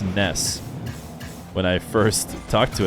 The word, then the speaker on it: Nass: and also know that Nas did ask for his name to be pronounced Ness when I first talked